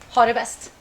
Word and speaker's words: ha det bäst: Oh, you have to say ha det bäst.